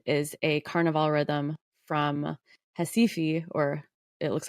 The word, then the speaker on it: Recife: And then maracatu, which I also mentioned, is a carnival rhythm from Recife, or it looks like Recife when you spell it out.